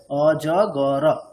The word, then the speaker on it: অজগর: জ গ র মানে অজগর, রয়ের যেহেতু যদি আমরা অজগর এই প্রোনাউন্সিয়েশনের পার্সপেক্টিভে দেখি তাহলে অজগর তিনটে হবে, আর যদি স্পেলিং এর দিক দিয়ে দেখি তাহলে অজগর চারটে।